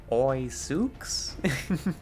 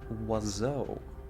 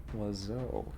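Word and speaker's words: oiseau: Like if I wanted to pronounce that like an American, I'd say Oi Sooks, but I know better than that. Wazo. Oh. Wazo.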